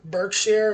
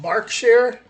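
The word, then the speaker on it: Berkshire: must visit destination so I've been saying it wrong this whole time Burk share it's called bark share the world's old oldest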